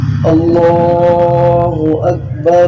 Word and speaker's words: اللہ اکبر: اللہ اکبر اللہ اکبر۔ اگر ملا کے پڑھنا ہو تو لفظ اکبر کی را جو ہے اس کو لفظ اللہ سے ملا کے ایسے پڑھا جائے گا، اللہ اکبر اللہ اکبر اللہ اکبر اللہ اکبر۔ رلا پڑھا